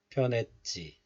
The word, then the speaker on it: 변했지: 변했지. But in most cases, you can still hear a little bit of 히 sound, H sound, when you pronounce this letter.